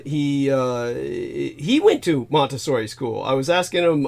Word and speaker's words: Montessori: oh the uh now am I pronouncing it correctly Montessori or Montessori how is Montessori Montessori yeah kind of like Monastery and uh so it's